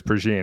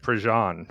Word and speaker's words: Prejean: First off, I had no idea it was Pergine. I've been pronouncing it Prejean for years, like rhymes with Dijon.